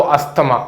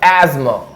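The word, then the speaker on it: asthma: जा अस्थमा है उनको अस्थमा अस्थमा जैसा कोई वर्ड नहीं होता एस्मा एस्मा एस्मा है उनको एस्मा एमा अस्थमा नहीं बोलते एमा बोलते ठीक है य तो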